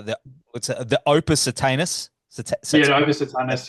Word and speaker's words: Opus Satanas: what's the OPA satanis op satanis yeah I'm pretty sure it's pronounced like that op satanis satanis whatever